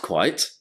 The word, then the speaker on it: quite: Dans les deux cas, on prononce bien le T à la fin.